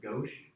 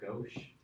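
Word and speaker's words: gauche: I think I'm saying it wrong, too. I think it's more pronounced go.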